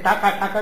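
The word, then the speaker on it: টাকা: में सिक्का लेते थे टाका कहते सिक्के को वहा पर रुपए को टका कहते बोलते बांगला में उसका उच्चारण टाका हो जाता टाका टाका माटी टाका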